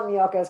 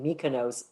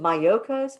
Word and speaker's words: Miyoko's: The downside is for a long time, people kept calling it Mykonos. Oh, that's the Greek company. So that's one downside. People will be able to pronounce it. Is it Miyoko's?